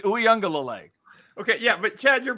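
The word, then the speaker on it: Uiagalelei: Pronounce his name right now. Ukulele. I just did. It's Uyunglele.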